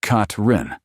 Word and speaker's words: Catherine: Hower, often called Catherine, pronounced Katrin, was a 52year-old woman full of energy and determination.